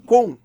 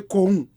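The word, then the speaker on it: Gqom: yet it's the same cone correct pronunciation long you know but we in west africa don't have the click sound yeah so we say kong that's g-q-o-m okay i've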